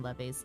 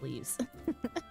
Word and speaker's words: leve: leaves the Lev like if you call them levies the l e v e quest leaves they're pronounced leaves um those are a